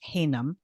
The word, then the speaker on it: Haynam: I have a guest and his name is Josh Haynam. Josh, I pronounced that right?